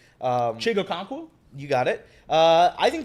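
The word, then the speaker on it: Chig Okonkwo: I'm not going to be able to pronounce that guy's name. Chigo Okonkwo?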